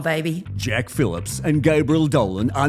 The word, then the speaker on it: Dolan: You buggered me up by saying, Jack, it's Dolan and it rhymes with a colon.